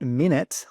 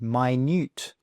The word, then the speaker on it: minute: It's not minute like time. Okay, not minute. It's pronounced minute.